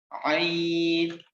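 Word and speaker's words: ع: Ain, this is little bit difficult. You have to pronounce it from your throat. Ain, ain, it comes from throat.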